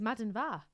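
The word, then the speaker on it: maidin mhaith: Um, for instance, we've got Majin Y, I think, for good morning TBC because I've I've got the the lesson tonight. So, I'll come back next week and tell you whether my pronunciation actually is as good as I remember it being. Um, but it's Madden Va for GA.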